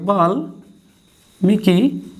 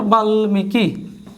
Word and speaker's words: বাল্মীকি: এবার বাল্মীকি, বাল্মীকি, এই স্বাভাবিক উচ্চারণ।